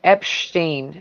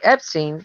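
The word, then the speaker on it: Epshteyn: i'm saying that right his name is spelled e-p-s-h-t-e-y-n so it's like you're saying epstein with a bunch of peanut butter in your mouth or something it's like epstein and just you know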